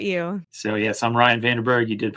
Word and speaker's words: Vandenberg: and what about you so yes I'm Ryan vanderberg you did pronounce my name the right way cool Texas